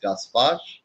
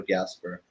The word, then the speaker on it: Gaspar: It's pronounced Gaspar or Gasper, whichever way that you can pronounce it.